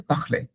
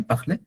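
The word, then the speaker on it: parler: তাড়াতাড়ি বলতে গেলে হয়েছে অনেক সময় পাখলে, দ্যাটস ফাইন, বাট অ্যাকচুয়ালি হচ্ছে পাখ, গলার মধ্যে একটা ভাইব্রেশন আসবে পাখলে।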